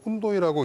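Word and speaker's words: Οὖννοι: 라틴어로는 이제 훈이라고 하고, 그 다음에 이제 그 그리스 사람들은 운노이라고 H 발음을 안 하고 운노이라고 이제 표기를 그 했는데요.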